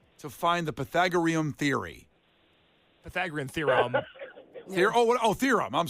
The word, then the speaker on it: Pythagorean: Pythagorean. That's what I'm saying. No, it's not. Pythagorean theorem. You're making it rhyme with Korean, doesn't it?